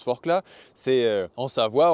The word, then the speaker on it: Forclaz: Sauf que Forclaz, ça se prononce Forclaz, c'est en Savoie, on ne prononce pas le Z à la fin.